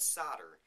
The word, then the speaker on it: solder: have this thing called solder spelled s-o-l-d-e-r the L is silent and what that is